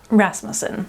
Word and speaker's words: Rasmussen: Rasmussen. Okay, I was going to That's okay. Ras or Ras? Ras. Ras- Rasmussen. Yeah. Rasmussen. An emphasis on the Ras.